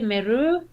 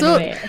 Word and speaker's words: Meru: I say Meru. Okay. But some people say Meru.